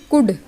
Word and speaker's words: could: For example COULD, तो इसको हम पढ़ते हैं कुड, तो ऊ की ध्वनि दे रहा है ना, और वैसे OU का मतलब क्या होता है, केवल ओ का मतलब ओ की मात्रा होता है और यू का मतलब ऊ की मात्रा होता है। तो आप ध्यान रखिए, OU ऊ की ध्वनि दे रहा है, कब देगा, जब जस्ट बाद में एल आ रहा है, तो कुड हो जाएगा, WOULD वुड हो